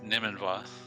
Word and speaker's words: Nimanva: And GG Nimanva. It was a great race. I look forward to watching it back. It's Nimanva. It's fine. I've been mispronouncing everybody's name today, so.